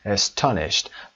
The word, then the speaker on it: astonished: نکاتش در این هست که صدای ای اول ما شوا هست، استرس روی ستا و دی آخرمون هم ت تلفظ میشه به خاطر حضور ش. astonished.